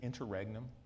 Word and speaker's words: interregnum: And during this kind of, how do you pronounce it? Is it interregnum?